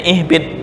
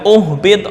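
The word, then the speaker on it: اهبط: ihbit nah misal ibtida di sini bacanya ihbit mengikuti huruf yang ketiga harakat yang ketiga dibaca apa kasrah ini dibaca kasrah mengulangnya Ih bukan uhbit enggak itu cara membaca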